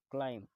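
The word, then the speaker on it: climb: क्लाइम. क्लाइम का मतलब होता है चढ़ना, इसमें बे साइलेंट होता है.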